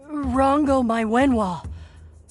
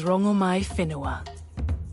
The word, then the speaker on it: Rongomai Whenua: Rongo, my Wenhua. What do I call you? My name alone will suffice. My name is Rongomai Whenua. Oh! We've been mispronouncing you the whole time.